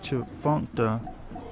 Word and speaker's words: Tchefuncte: The name Tchefuncte, pronounced Chfuncta, is derived from the